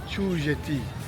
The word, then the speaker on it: Chew Jetty: Çu jeti diyor hanım buraya. Ben ç diye okuyorum ama o çuymuş. Orijinal okunuşu. Çeti diye okuyorum.